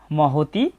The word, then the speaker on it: মহতী: এরপর আছে মহতি, বাংলা উচ্চারণের মতোই।